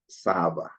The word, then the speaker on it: Saba: the cob um then the word Saba that's how we pronounce it in my dialect which is kamba server is like to